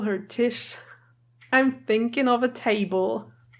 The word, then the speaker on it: Tish: I have also German people watching my videos, but her name Tish is a German word and it's pronounced the same. It's Tish, and it means table. So every time they call her Tish, I'm thinking of a table.